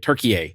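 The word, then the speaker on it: Türkiye: but yeah per uh Portugal turkey I guess is how you say it turkey a that's it turkey a I remember now and Vietnam it is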